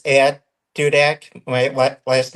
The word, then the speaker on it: Dudek: I'm on X, and it's at Dudak. My last name .. All right, I'm gonna try to put that in there. Can you spell that for everybody? Yep, DUDEK.